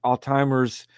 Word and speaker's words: Alzheimer's: I keep pronouncing it Alzheimer's. Everyone pronounces Alzheimer's, but there's no T in it. It's ALZHEIMER apostrophe S.